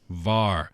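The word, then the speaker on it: 玩: War. And then war has two different possible pronunciations, right?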